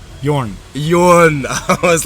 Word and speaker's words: Jorn: There we go, I Jorn. nailed it. But that's why I say just Jorn or Jorn. Or, Okay. Yeah. Well, I'm going to try and pronounce it correctly throughout this podcast. Jorn. And I like rolling my R's as well.